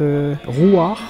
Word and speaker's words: Ruach: Es geht um ein aramäisches Wortfeld und das wird Ruach ausgesprochen.